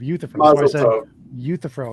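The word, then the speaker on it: Euthyphro: I was just correcting your misprononunciation of uuthifro is how you say it.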